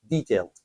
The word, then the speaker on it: detailed: In this case, l e d is not pronounced, so that's why you say detailed instructions.